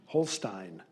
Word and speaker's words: Holstein: The word is Holstein. Holstein. Alternate pronunciation, Holstein.